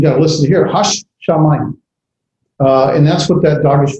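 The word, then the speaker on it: הַשָּׁמַיִם: Hashamayim. I say the shin twice. Hashamayim. You got to listen to here. Hashamayim.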